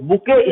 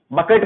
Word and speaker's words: bouquet: है, इसलिए स्टेज को बुके स्टेज के नाम से जानते हैं। बुके की स्पेलिंग देख लो, BOUQUET। बकेट मत पढ़ लेना, बकेट नहीं लिखा है, बुके लिखा हुआ है।